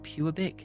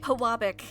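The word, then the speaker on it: Pewabic: How do you pronounce it? Is it Pubic? Pwabic.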